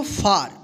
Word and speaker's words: far: आ उच्चारण नियम का, कि जब किसी वर्ड में ए के बाद यानी लास्ट में ए के बाद अंत में आर रहे तो इस ए का क्या उच्चारण करेंगे, आ उच्चारण करेंगे, ठीक है।